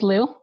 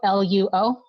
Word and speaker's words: Luo: It's spelled Luo. The O is silent. It trips a lot of people up. So, or they switch the last 2 letters. So it's a weird Chinese pronunciation thing. So when it's translating to English, it actually you drop the O sound. So it's just Lu.